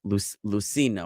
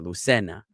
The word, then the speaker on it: Lucena: One is Luzina. Now, if you ever hear like a Hispanic person talk, the Z sound they pronounce like an S. So this would be like Lucina or Lucena, which is a place in Spain.